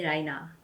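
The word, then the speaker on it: ライナー: japanese spelling and pronunciation so napkin would be napoken and liner would be raina another label you would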